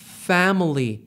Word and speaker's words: family: 가죽을 패밀리라고 하는데 영혼은요 family 첫 번째 F 발음 잘해주시면 좋아요 패밀리 아니고 패밀리고요 두